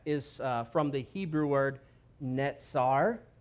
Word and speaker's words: Netzer: Nazareth is from the Hebrew word Netzer. Netzer. I got to get this pronunciation correct because they are so close.